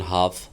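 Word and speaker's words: half: এবং এল সাইলেন্ট, এলের পরে যদি ডি এফ কে এম থাকে তাহলে এল সাইলেন্ট হয়ে যায়, যেমন হাফ, টাক ইত্যাদি।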